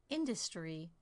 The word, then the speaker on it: industry: Here are some three-syllable words: industry, impressive, understand. In the first word, I stress the first syllable, the second word, the second syllable, and the third word, the third syllable.